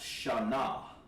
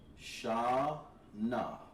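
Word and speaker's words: שָׁנָה: Year in Hebrew is pronounced Shana. Shana.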